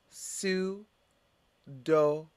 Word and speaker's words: pseudonym: or jewish traditions assam next word pseudonym repeat su do what does it mean a pseudonym is like